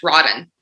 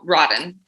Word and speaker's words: RAW10: so like a play-on words rotten ah very interesting okay cool so the the japanese symbol uh stands for heaven but it's pronounced tin so rotten rotten the track is